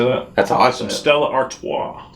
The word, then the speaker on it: Stella Artois: twi artois how you say that that's awesome stella artois it's just fancy bud light i figured it